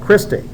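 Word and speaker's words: cristae: They're called christi. Uh it's kind of like the girl's name Christy with a long a at the end.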